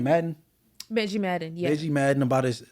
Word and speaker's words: Benji Madden: Benji Madden, yeah.